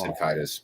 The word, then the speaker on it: Caedus: Is it Darth Caedus or Darth Caedus? I've heard both, so I'm not sure. But he is the shit, man. Jason Solo. Oh, it's Caedus, but him and Jaina Solo were overpowered.